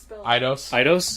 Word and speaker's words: Eidos: I don't know how to pronounce Eidos. Eidos, yeah, Eidos.